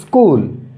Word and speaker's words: স্কুল: স্কুল, একটা শব্দ লিখেছি, এটার উচ্চারণটা হলো স্কুল। মানে এখানে ইটা কিন্তু একেবারেই স্লাইড, অত স্পষ্ট হবে না।